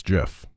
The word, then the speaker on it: GIF: don't don't do it what is the right way to pronounce gif it's jif does the person in